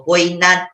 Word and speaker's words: poignant: Silently daw, no? So, poignant yung isa, the proper pronunciation. Nabasa ko. Thank you so much. Not poignant, silently.